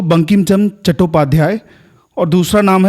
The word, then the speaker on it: चट्टोपाध्याय: Basically क्या है कि जो चट्टोपाध्याय थे वो ऑथेंटिक बंगाली स्पेलिंग है जिसकी प्रोनंसिएशन चट्टोपाध्याय ही होगा। लेकिन चैटर्जी जो है एक ब्रिटिश सिरा एंग्लिसाइज्ड वर्शन है सेम सरनेम का।